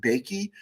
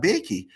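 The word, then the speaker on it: Boeke: player named jim uh i'm going to pronounce it bakey it's b-o-e-k-e and jim bakey um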